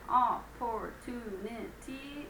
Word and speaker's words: opportunity: Number 7, opportunity, is actually 5 syllables, so be careful.